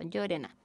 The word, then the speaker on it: Llorena: Entonces, mi apellido se pronuncia tal cual se lee por si acaso, Llorena.